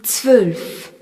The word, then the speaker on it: zwölf: Le nombre 12 se dit zwölf. Z-W, O tréma, L-F. Le O avec un tréma ne se prononce plus O mais E.